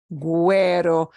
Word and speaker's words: güero: The U comes back and we do pronounce it pingüino, vergüenza, güero.